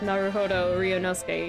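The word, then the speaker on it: 成歩堂龍ノ介: Which is rather silly, especially because his name would be pronounced Naruhodo Ryunosuke in Japanese, so it's I see a dragon boy.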